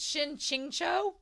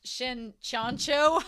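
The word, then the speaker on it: Shen Qingqiu: But Holy Milk pointed out that Shen's name is Shen Chingcho instead of Shen Chancho. I've been saying Chancho like Lon Chanchu in Heaven Official's Blessing, so I apologize.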